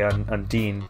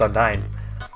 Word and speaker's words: Undyne: I think of Undine from, I guess, the spirit from the Tales game, so I say Undine, but I guess it's spelled with a Y, so it's Undyne.